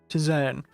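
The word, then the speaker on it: tisane: really didn't figure out how to say that to zayn zane that's it i always keep forgetting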